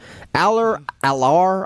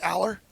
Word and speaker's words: Allar: Allar, I've heard it pronounced him a couple different ways. I I I think they most of the broadcasters say Aller.